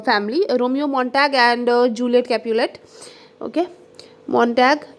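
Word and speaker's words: Montague: and Juliet is from Capulet a family Romeo मटग and Juliet Capulet okay मटग एम ओ एन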